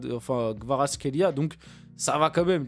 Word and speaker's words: Kvaratskhelia: Donc l'avis de Walid Acharchour sur les débuts de Kvaratskhelia.